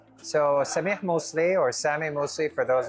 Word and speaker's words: Samih Moussly: So, Sami Mosley or Sami Mosley for those of you who don't know how to pronounce my name.